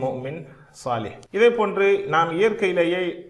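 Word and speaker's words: مؤمنة: எனவே இந்த வார்த்தைகளை உச்சரிக்கின்ற பொழுது முஸ்லிமத்துன் என்று சொல்ல மாட்டோம், முஸ்லிமா. முஃமினத்துன் அல்ல, முஃமினா, சாலிஹா என்பதை போல.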